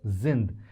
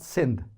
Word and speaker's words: sind: here we say we zind we zind we zind told you if after s comes a wow mostly it is pronounced as Zed so this is zind not sind we zind we zind with me guys we